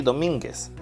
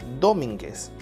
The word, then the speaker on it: Domínguez: las sílabas 2010 ahora vamos a identificar cuál es la que tiene la mayor fuerza de voz si lo ponemos en dos diría domínguez si lo ponemos en mí diría domínguez y si la ponemos